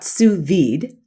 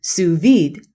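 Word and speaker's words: sous vide: but if you wanted to know know about suid it's spelled s o u s v d which is a French cooking technique and you went to Google you would just put in suid and see what comes up but generative AI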